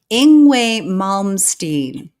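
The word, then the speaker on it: Yngwie Malmsteen: you Gregory okay so the way you say this name ingway ingway malmstein okay yeah ingway malmstein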